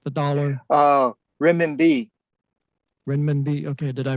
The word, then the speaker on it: renminbi: So your quote is, "Renminbi has risen, renminbi will go on."